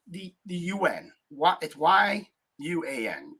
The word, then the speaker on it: yuan: the U.N what if y-u-a-n you on Yuan I think is how you pronounce it if they do that